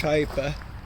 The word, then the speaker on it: Hipa: what's going on there I always pronounce it hea but it's hyper and you could see